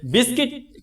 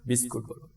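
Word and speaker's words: biscuit: প্রিয় শিক্ষার্থীরা বিস্কিট এই শব্দটাকে তোমরা অনেক সময় উচ্চারণে ভুল করে থাকো বিস্কুট। একচুয়ালি এই শব্দটার সঠিক উচ্চ হচ্ছে বিস্কিট। এরকম গিটার গিল্টি অথবা সার্কিট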